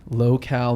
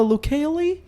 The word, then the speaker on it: Locale: Hale Eric Hale Eric Hale from the famed locale magazine how many people say it wrong how many how many funny sayings of your magazine hey you oh no lo koe I think at the beginning I got a